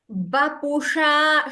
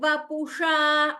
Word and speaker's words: वपुषा: चेत् हृदयमिह किन्तेन वपुषा Vapusha, sha, could you pronounce that? वपुषा Slightly. So, mashakata, there it is sha. Here, vapusha, sha. Murdhani.